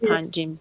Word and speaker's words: Panjim: The Panjim. I don't know if I'm doing it right, if I'm pronouncing it right. The Yes, yes. Panjim Bridge.